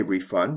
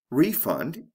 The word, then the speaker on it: refund: a refund did they refund your money in this case refund is a noun and refund is a verb see how the function